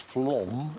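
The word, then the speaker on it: Flåm: f l a m pronounced Flom it's a Norwegian thing it was a little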